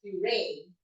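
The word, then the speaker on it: purée: Kaso nga lang, ang pag-pronounce is puree, right?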